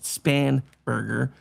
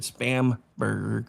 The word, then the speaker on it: Spanberger: Her being I know her name is actually pronounced Spanberger. I pronounce it Spamberg cuz, you know, she was fake to begin with.